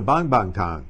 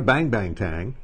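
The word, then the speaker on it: 棒棒糖: a lollipop is a bonbon Tong it's not a bang bang tang but most Americans when they see a ng they pronounce it bang but in Chinese it's a soft a bond that's easy for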